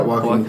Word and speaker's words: Joaquin: Is that how you say his name? Yeah, Joaquin. Yeah.